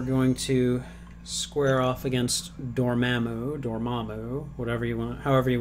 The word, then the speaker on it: Dormammu: Just don't call him Dormammu, okay? I'm pretty sure the way that Benedict Cumberbatch pronounced it in Doctor Strange made it pretty clear. Accent on the second syllable, please.